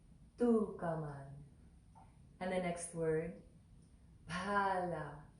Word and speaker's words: Phalā: And the next word, Phalā. So there's that H after the P. So that's one letter, and it's pronounced with a puff of air. Pa, pa, pa. So it's Phalā, Phalā.